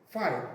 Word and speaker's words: phi: The resultant R1 is inclined at an angle phi, pronounced phi, PHI, inclined in a direction away from the direction of sliding.